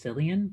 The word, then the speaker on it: Cillian: I think it's Cillian, like Cillian Murphy.